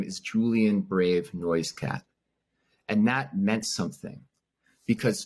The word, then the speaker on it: Noisecat: name is Julian Brave noise cat and that meant something because noise cat or noiskit as the name was originally pronounced before the missionaries messed it up it nearly died out